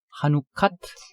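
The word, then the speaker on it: חנוכת: 그래서 바이트에 정관사를 붙이면 핫바이트가 되고 또 하누카라는 말과 합성을 한번 시켜봤는데 하누카가 합성이 될 때는 발음이 약간 변한다 그랬죠. 네네. 그래서 하누카트 핫바이트 이렇게 해서 성전 봉헌이라는 의미가 된다.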